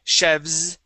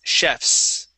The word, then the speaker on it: chefs: It wouldn't be chefs. Okay, it's chefs with that voiceless S, okay? So if we don't have an ES at the end, okay, we pronounce that like an S sound, okay?